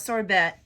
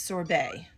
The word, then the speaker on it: sorbet: So I know there's a T, but the T is actually silent. So it's not sorbet, it's sorbet.